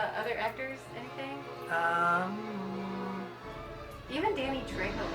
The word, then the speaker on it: Trejo: Trejo? Yeah, I said it right.